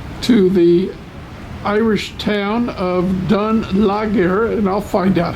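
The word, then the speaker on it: Dún Laoghaire: After a 15-minute tender ride, we are in the town of Dunlachmere. Welcome to Dunleary.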